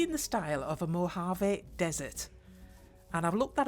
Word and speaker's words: Mojave: going to be in the style of a Mojave Desert and I've looked that up so I know I've pronounced it correctly I do like that desert